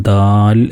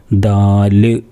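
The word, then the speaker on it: دال: ഉച്ചാരണം ഉണ്ടാവാതിരിക്കാൻ വേണ്ടി ശ്രദ്ധിക്കണം അതേപോലെ ദാല് എന്ന് പറയരുത് ദാൽ എന്നാണ് പറയാക ദാൽ അപ്പോ ഇവിടെ ഫത്തും കസ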